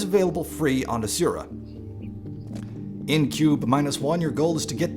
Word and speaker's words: Qbeh-1: Qbeh-1, and yes, this is apparently pronounced cube.